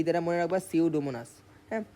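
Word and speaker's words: Pseudomonas: পি দ্বারা মনে রাখবা সিওডোমোনাস হ্যাঁ পি এর উচ্চারণ তো হবে না এটার উচ্চারণ হচ্ছে সিউডোমোনাস সো এগুলাতে এসিকিউতে আসলে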